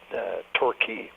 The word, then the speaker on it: Torquay: a resort on southern England and it's called Torquay but they spell it to your qu a why but it's pronounced Torquay and he said this song reminds me of